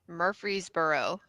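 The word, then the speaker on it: Murfreesboro: fake redneck how do you say it Murphreesboro murb murb Mur Mur Mar is that is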